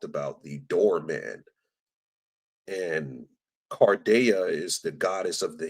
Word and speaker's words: Carda: If you look into the Roman goddess Carda, which is some stuff that I think Cody or Rambo talked about, somebody talked about the door man. And Carda is the goddess of the hinge.